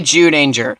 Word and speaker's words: Zyuranger: show that it was adapted from, Kyoryu Sentai Zyuranger. Hey, don't look at me like that, it's how it's pronounced.